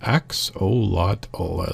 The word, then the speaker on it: Axolotl: It's pronounced Axolotl as there.